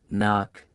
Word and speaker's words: knock: But in most cases the k is silent and only the n is pronounced. Common k words knee, knife, knock, no, not knit.